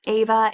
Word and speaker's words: Ava: So we have Ava and we have Kai. I listened to the audiobook and that's how her name is pronounced, so I'm going to move forward with that.